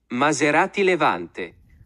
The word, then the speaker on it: Maserati Levante: Maserati Levante.